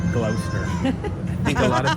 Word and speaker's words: Gloucester: I think it's Gloucester, not Glouchester.